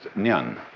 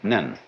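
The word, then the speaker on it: 念: It's pronounced nyan. In Japanese, nen.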